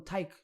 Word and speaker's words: Tayc: I can name another one, Tyke. It's spelled Tayc.